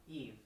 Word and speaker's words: Yves: After it was announced that last year's, Ubisoft CEO Yves Guillemot said at Gamescom to not expect... Yves. The S is silent.